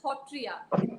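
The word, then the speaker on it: Sattriya: Assam's own Hotriya Nritya, which is spelled as Satriya, Satriya, but it's pronounced as Hotriya.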